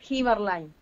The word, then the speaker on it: Heberlein: En realidad se escribe, pero es Heberlein, es alemán mi apellido.